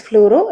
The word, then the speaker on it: fluoro: For example, bromine will be pronounced as bromo, chlorine will be pronounced as chloro, cyanide as cyano, fluorine as fluoro, etc.